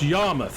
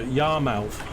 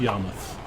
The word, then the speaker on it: Yarmouth: And this is pronounced Yarmouth. I've seen so many Americans in videos go Yarmouth, Yarmouth. It's Yarmouth, as if it's M-U-T-H.